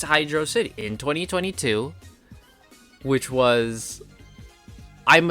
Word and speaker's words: Hydrocity: Is it pronounced Hydrocity? Or Hydrocity like velocity?